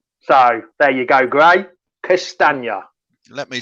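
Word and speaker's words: Castagne: grace just put up a comment come jamie pronounce castanya so there you go gray castana let me say yeah oh castanya's easy he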